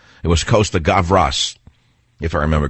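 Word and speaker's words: Costa-Gavras: by Costa graas gavas cost I can never pronounce that filmmaker's name it's not Costa gravas it was Costa gavas if I remember correctly what a great movie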